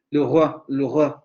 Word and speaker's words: le roi: Tampoco puedo pronunciar esto, menos, ¿no? Le roi. Tengo que pronunciar ahí la vocal media central. Le roi, le roi, le roi.